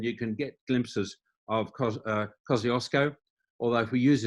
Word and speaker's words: Kosciuszko: the country and you can get glimpses of kosciuszko although if we use its correct pronunciation which most australians don't it's kosciuszko but kosciuszko you'll see bottom hand corner we've added to